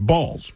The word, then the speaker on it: Balls: So, his name was Harry Balls. B A Ls, but it is pronounced Balls.